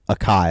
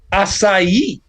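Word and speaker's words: açaí: one was like grape Akai and I was like I'll take the one of two things I I know acai is how that's pronounced oh yeah I used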